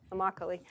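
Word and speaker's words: Immokalee: he didn't tells me rhymes with broccoli Ami um and David and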